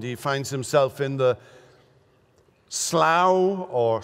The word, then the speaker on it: slough: finds himself in the slough or slew or slough of despond. It's slough, but you may use a different pronunciation here.